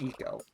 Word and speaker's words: Ico: It's pronounced Eco.